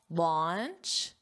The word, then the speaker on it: launch: Don't confuse the pronunciation with lunch, your meal of the day. Lunch, your mouth does not open very wide. Lunch. Launch, which is to officially